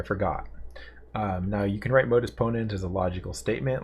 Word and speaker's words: Modus Ponens: So it's in Latin, and that's called Modus Ponens. At least that's how I've heard it pronounced. Maybe other people pronounce it other ways. But Modus Ponens.